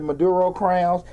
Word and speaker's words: Maduro Crowns: this is from a girl Maisha man at Maduro crowns look at Maduro crowns on uh on Instagram